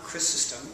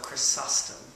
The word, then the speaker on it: Chrysostom: John Chrysostom, or Chrysostom, depending on how you want to pronounce it, 4th century Antiochian, born